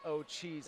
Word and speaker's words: Ortiz: It looks like Ortiz, but they pronounce it O'Cheese, I believe. Thank you for the clarification. The R is silent.